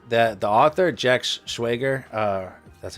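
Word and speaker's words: Schwager: So, uh, what I find is like that the author Jack Schwagger, uh, that's how you say his name.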